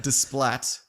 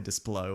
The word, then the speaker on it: Desplat: Alexandra Desplat. That's probably not how you say it. It's probably Desplo or something like that. No, it's Splatto. Splatto.